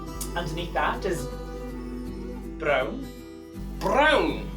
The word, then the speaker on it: brown: Underneath that is brown. Brown. Spelt the same way as it is in English, pronounced very differently.